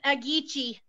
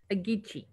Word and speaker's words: Agitsi: It's Agitsi. Agitsi. Uh-huh, so it kind of reminds me of Etsy, you know, and everyone's got that down.